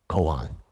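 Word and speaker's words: kōan: um unique john method which is the japanese pronunciation koan in each or the english would be public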